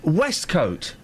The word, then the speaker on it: waistcoat: No, it's pronounced Westcoat. Where? Where is it pronounced that? What country? Scotland.